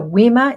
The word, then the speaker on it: Wima: So Wima is how it's pronounced.